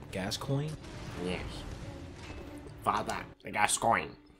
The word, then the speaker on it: Gascoigne: me get to that okay how do you pronounce his name gas coin yes father the gas coin oh man with